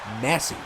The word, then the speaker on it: Messi: And they said, and I was like, is the last name pronounced Messi?